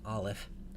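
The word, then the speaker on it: א: the letter into English the reason that we transliterate the letter into English this way is because it represents a sound that we don't really have when we speak English so the olive is a consonant it's not a vowel it's produced by a stoppage of breath sort of like the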